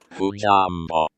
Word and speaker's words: hujambo: Should we see the pronunciation here? Hujambo.